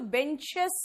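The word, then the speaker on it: benches: की कोशिश करेंगे ना, तो बेंच एस नहीं निकल रहा मुंह से, एस निकालने की कोशिश करेंगे तो बेंचेस निकलेगा, सर ही निकला, बेंचेस, एस निकल रहा है। एस का मतलब ई एस वाला प्रोनाउंसिएशन।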